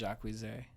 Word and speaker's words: Jacquees: It's spelled Jacques with 2 E's and a Z, but his name is Jacquees, but he says it's Jacquees.